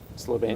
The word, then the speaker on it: Slovenia: it so funny doberan from slov Slovenia it's pronounced Slovenia moo BTW okay I thought it was moocho